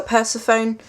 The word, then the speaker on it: Persephone: Persephone and witches cycles I call her Persephone that's how I've always pronounced it I do know that